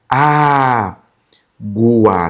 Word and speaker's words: água: Esse gu em algumas situações, não vai aparecer o u. Só o som do g igual em guerra. Tá vendo? Guerra. Agora a diferença pra água, ó. Ó, a gua. Tá vendo esse, ó? O gu aqui já aparece o som do u.